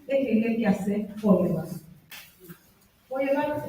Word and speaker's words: Feuerbach: Feuerbach es el señor que tiene nombre estornudo, que se escribe así.